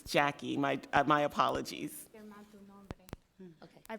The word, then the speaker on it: Jackie: thank you and my apologies Miss Torres for mispronouncing your first name and I for the record it's Jackie my my apologies okay I probably wrote it